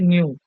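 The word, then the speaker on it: ν: এইচ এর পাশে এই জিনিসটা হচ্ছে নিউ এটার উচ্চারণ হচ্ছে নিউ আর এটার মানে হচ্ছে স্পন্দন সংখ্যা আর এইচ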